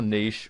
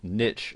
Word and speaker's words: niche: And first and foremost, you'll need to decide what your niche, or niche as some people pronounce it, is going to be.